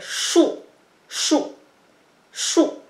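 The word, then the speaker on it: shù: le trait vertical, c'est chou, chou, chou, S-H-U. Donc, en chinois, c'est shi ou chou, chou, ok? 4e ton, chou, chou.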